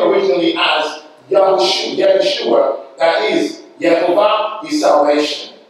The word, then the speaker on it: Yahushua: The Messiah's name is actually the same name as Joshua, son of Nun, correctly pronounced Yahushua.